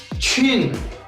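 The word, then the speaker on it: 轻: N-Q-I-N-G, qing, qing. In Chinese, friends, Q is pronounced as chi, chi, and this complete word is nian qing, nian qing.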